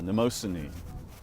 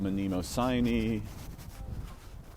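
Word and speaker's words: Mnemosyne: mother of the muses, uh, Neimosin, sometimes pronounced manimosin.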